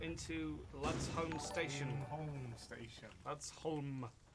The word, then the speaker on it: Ludsholm: Ludsholm. They pronounce it home. They could just say H-O-M-E. Oh, like Holmes. Yeah, home.